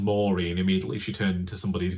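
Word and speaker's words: Moiraine: more about perin Matt morine I still can't get over the fact that rosan Pike pronounced this as Morin because it completely changed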